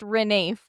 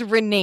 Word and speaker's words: Ranulph: It's pronounced Renafe. No. It is pronounced Renafe.